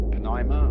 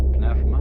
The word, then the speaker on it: pneuma: The Greek word, you may pronounce it pneuma or pneuma, is the same as spirit.